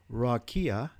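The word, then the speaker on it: רקיע: firmament is uh H 7549 in Strong's Concordance pronounced rakia and is defined as an expanse that is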